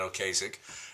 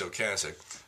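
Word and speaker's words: Ocasek: He had pancreatic cancer, but Rick Oasic. And by the way, that is the correct pronunciation. It's not Oasich, it's Okasich.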